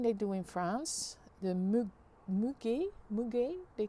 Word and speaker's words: muguet: Muguet, pronounced Muguet.